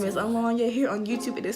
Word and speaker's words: Alonya: And if you don't know who I am, my name is Alonya. Here on YouTube, it is spelled, but in real life, it is spelled Alonya, ALONYA.